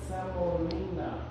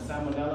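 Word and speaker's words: semolina: If you didn't hear what he said, he said samolina. Often mispronounced as salmonella and everything else in between.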